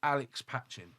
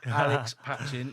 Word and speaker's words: Alex Patching: in the Tea Hut HQ, and that is Alex Patchin. I said it right, didn't I? That's it, mate. Alex Patchin, yeah.